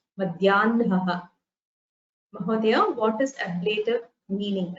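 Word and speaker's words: मध्याह्नः: So the hakara followed by nakara, it is the usual rule where the nakara is heard first. Madhyanaha.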